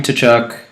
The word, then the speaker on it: Tkachuk: up some goals so Matthew to chuck or tkachuk it city it silent for you you will be that's how you pronounce a pterodactyl compare adaptable if you